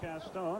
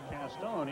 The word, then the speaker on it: Castone: Toby Castone on the stop. I'll tell you a funny story about Castone.